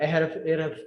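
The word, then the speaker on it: Ahrefs: उसके अलावा आप एहरफ्स देखें, ठीक है, एहरफ्स भी कुछ कहते हैं, कुछ हैरफ्स भी कहते हैं, मुख्तलिफ प्रोनाउंसिएशन लोग यूज करते हैं, ठीक है।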